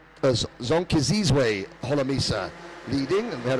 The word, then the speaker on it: Zonkizizwe: It is Zonkizwe. Zonkizizwe Holomisa leading, and we had a lot of fun learning how to pronounce Zonkizizwe's first name.